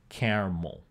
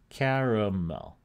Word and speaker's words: caramel: So some people use two syllables for it, caramel. They are in the area in red. Some people use three syllables for it, caramel.